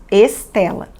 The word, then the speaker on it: Estela: Em português, escrevemos Estela com a letra E e um L e falamos Estela.